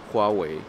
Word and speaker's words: Huawei: huawei que le decimos no se pronuncia el huawei se pronuncia huawei huawei o que estos son